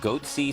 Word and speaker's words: Goatse: goatse picture they're called goatse security is that my pronouncing that correctly yeah that's right we're analyzing coverage from